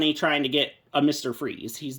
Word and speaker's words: Fries: because, you know, like, obviously it looks like Fries, but it's pronounced Freeze, but then his villain name is Mr.